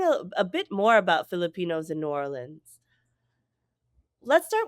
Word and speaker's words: Filipineux: And I want to note for our audience that Filipino in this context is spelled with a EU X.